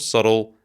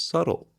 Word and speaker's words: subtle: which is an adjective pay attention to the difference between the pronunciation of subtle and its spelling there is a silent B in this word it means unnoticeable